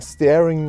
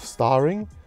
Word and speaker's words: starring: language long story short I goofed up in my rhyme saying staring night instead of starring given that it stems from Star I opted not to